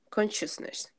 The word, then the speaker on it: consciousness: - isness that one you have to pronounce them like a CH a conscious consciousness consciousness okay good oh